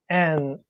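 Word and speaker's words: 円: I know in English it's pronounced yen, but in Japanese is it en? Like goen? It's always en, unless in certain situations, I think.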